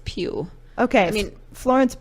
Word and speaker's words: Pugh: I feel like I'm going to say this name wrong. Florence Pugh? P-U-G-H? Mm-hmm. I think it's Pugh. Okay. I mean, Florence Pugh.